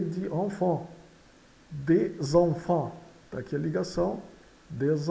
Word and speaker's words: enfant: Enfants tem as vogais nasais EN aqui no início e AN quase no final. Então, enfant. E o S final de enfant é mudo. O S aqui é mudo, é um enfant. E o T também. Enfants.